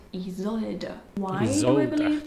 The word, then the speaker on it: Isolde: And you say it Isolde.